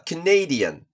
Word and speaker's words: Canadian: 例えば、 Canadian だったら、この部分